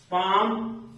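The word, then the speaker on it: palm: होगी काम वाम पाम लास्ट में एम आ रहा है इसके पहले एल आ रहा है तो यह एल भी साइलेंट हो जाएगा उसके बाद का हाफ में देख एफ आया है उसके पहले एल आया है इस तरह से अगर कोई इन अक्षरो में से रहे और उसके पहले ल रहे तो ये साइलेंट मोड में चला जाता है ये अक्षर साइलेंट हो जाता है याद करने के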